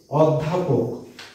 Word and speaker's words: অধ্যাপক: অ এর উচ্চারণটা ও এর মতো হয়েছে, তাই এটা সংবৃত।